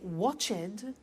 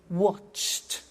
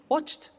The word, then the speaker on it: watched: ed wash it but we eliminate the e and we add T okay watched danced good the next